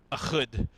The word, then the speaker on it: Ehud: Ehud.